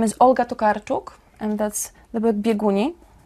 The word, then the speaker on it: Olga Tokarczuk: Her name is Olga Tokarczuk, and that's the book Bieguni.